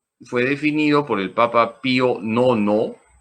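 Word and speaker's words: Pío Nono: definido por el papa pio nono se escribe bio romanos 9 se dice pionono acuerdense los bizcochos es un documento que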